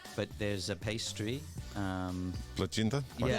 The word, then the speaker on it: plăcintă: Plăcintă? Yeah, Plăcintă. Plăcintă. Okay. I love that. Okay. Yeah. I'm terrible with the pronunciation.